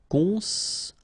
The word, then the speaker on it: construire: Construire, okay? O-N together, nasal, construire. Construire, construire. Soumettre.